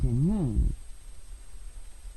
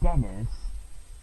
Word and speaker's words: Denis: because blue is associated with Saint Martin and red is associated with Saint Denis. Or as the English pronunciation, Dennis.